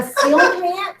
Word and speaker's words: coelacanth: A coelacanth? Sealkin? Coelacanth. It is spelled CEO LACANTH.